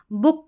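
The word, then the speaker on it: book: Double O के दो मुख्य उच्चारण जैसे मून फूड स्कूल में डबल ओ को बड़े ऊ की जैसे पढ़ा। बुक गुड लुक में हमने डबल ओ को छोटे ऊ की जैसे पढ़ा।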